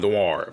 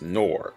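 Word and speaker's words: Nohr: of dwar or nor i always call it noir but it's pronounced nor but i always count pronounce it noir i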